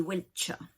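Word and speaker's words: Wiltshire: ça s'appelle wechat alors même si ça s'écrit s h i r e à la fin on dit pas où il chire dit wesh parce qu'en anglais les SHH c'est char moi je suis née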